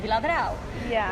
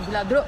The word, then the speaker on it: Viladrau: But there were some towns down below, like Viladrau, which the captains of the military always called Viladro because they were from Spain. They couldn't pronounce it. Viladro.